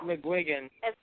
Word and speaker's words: McGuigan: actually said it right did I really yeah McGuigan yeah you get it right waking up what